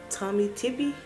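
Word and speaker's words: Tommy Tippee: And then I already opened this because I've used it, but I bought a Tommy Tippy.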